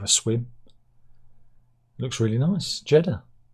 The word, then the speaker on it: Jeddah: Jeddah. Rhymes with cheddar.